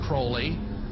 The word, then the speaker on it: Crowley: be have his name pronounced crowley to rhyme with holy and the satanist today